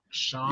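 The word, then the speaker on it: Shawn: Sean Yeah, we'll go with Wallace. Oh, because he's another Sean. S-H-A-W-N. I know, but it's still a Sean. Still pronounced the same, even though it's incorrectly spelled.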